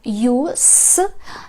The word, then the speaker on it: use: Ви можете прочитати це слово двома варіантами. Якщо ви прочитаєте його як use, це означає іменник, використання, користь. Наприклад, what's the use of repeating? В чому користь? В чому сенс? повторення. А от, якщо ви це саме слово прочитаєте через z, воно вже буде означати дієслово використовувати. How do you use this?